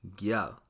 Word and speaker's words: gyal: Now in Patwa, a girl is referred to as a gal, but the rule also applies here, making the pronunciation gyal.